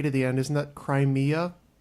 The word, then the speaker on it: Crimea: had the word crime if you had a to the end it becomes Crimea which is three syllables is that it's a